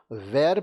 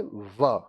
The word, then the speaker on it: were: अब ये जो इसको बहुत लोग were पढ़ते हैं, लेकिन इसका उच्चारण होता है were।